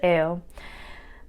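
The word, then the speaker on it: Éo: The prefix AO, so EO, the letter is EO, so it's pronounced AO, means horse, and we see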